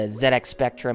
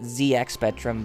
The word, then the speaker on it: ZX Spectrum: Yeah, I know some of us would tend to pronounce it ZX Spectrum, but in Britain they actually pronounced it as ZX Spectrum, so that's how I'm going to say it from now on.